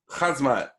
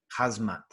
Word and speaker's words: Khamzat: It's Khamzat. Khamzat. That CH is an attempt at the accent. It's Khamzat Chimaev. Khamzat Chimaev.